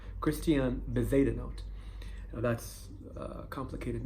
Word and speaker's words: Christian Bezuidenhout: So this golf player, Christian Bezuidenhout, I think that's how you pronounce it. I watched a few interviews and that's how they pronounce his name. Christian Bezuidenhout.